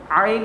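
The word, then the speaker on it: ع: My dear students, you have to pronounce Ain like that, Ain, from middle of the throat.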